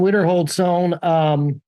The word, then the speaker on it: Wiederhold-Sohn: Correct me if I'm saying your last name wrong. Is it Wiederhold-Sohn? Wiederhold-Sohn? Which one is it? Alan Wiederhold-Sohn.